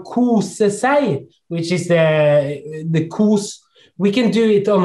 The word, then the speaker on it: kos: would know hygge, but it's kus in which is KOS. Long. Yeah, it's kus. Kus. Kus. Like couscous. Kus.